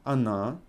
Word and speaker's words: она: So, я, ты, он, она, мы, вы, они. Can you hear my pronunciation on она and они? I pronounce first O as A. Она, они. Because O is not emphasized.